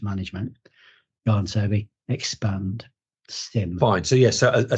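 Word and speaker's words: SIEM: this episode subject era so it's it's it's pronounced Sim yeah but it's spelled s i m yeah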